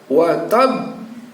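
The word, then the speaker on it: وَتَبّ: Nah, pada saat disukunkan dalam posisi wakaf, maka kita baca watab. Ujungnya ada keluar suara b itu sebagai pertanda bahwa ba ini ada 2.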